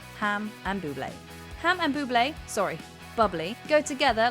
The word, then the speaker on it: Bublé: Ham and Bubbly, go together like a delicious pork-based dish and a glass of sparkling champagne. And look no further than Ham and Bubbly. It's actually pronounced Bublé.